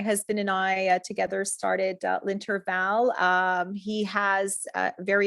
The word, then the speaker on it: L'Intervalle: name incorrectly that's okay it's linter Val and and it is